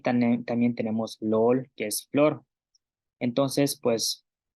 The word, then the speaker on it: lool: Y también tenemos lol, que es flor. Entonces, pues repasamos dos veces las pronunciaciones.